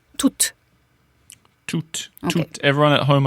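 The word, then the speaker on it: toute: always no exception pronounce toot toot toot very good so you have a t sound a o sound and then another T toot toot to yes it's important that you pronounce the final T the E and the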